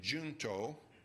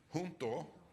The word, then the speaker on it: Junto: He uh early in life in Philadelphia formed something juo and I think they pronounced it junto uh in but you if you know any Spanish hunto uh it comes from the Latin an another English variant